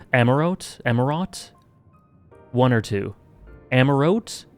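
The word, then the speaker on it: Amaurot: thy coming was expected the t is pronounced amarot amarot one or two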